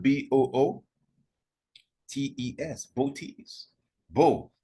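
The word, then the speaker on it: Boötes: for this constellation booties interestingly that's how it's pronounced booties it's spelled b-o-o t-e-s booties Bo like Bobo booties and this boat tease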